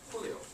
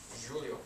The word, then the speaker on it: Julio: One is he's from Argentina, so we pronounce his name Julio. But actually, there is a goalkeeper also from Inter Milan. They are teammates. He's Brazilian. He speaks Portuguese, so we say his name Julio, right? Ariano. Julio Cesar. Actually, they are the same word, but because they speak different languages, it is totally different.